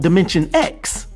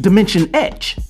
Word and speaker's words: Dimension X: This is when his body would be transformed into electroplasm, and he'd find himself in a domain mistakenly called Dimension X, which is actually pronounced Dimension Ecch.